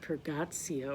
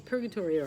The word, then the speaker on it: Purgatorio: they're reading Purgatorio, which my last video I pronounced it Purgatio or something, but it's Purgatorio or Purgatory.